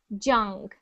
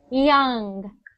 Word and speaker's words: young: When you were saying it, you said it sometimes like a j, like jung. Okay. Just remember, if you ever, how do I make that sound again? You can actually keep your mouth open when you make the y sound.